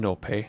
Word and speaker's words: Anope: a poni and write it backwards you get a no pay and it is pronounced in no pay I have asked in the past we have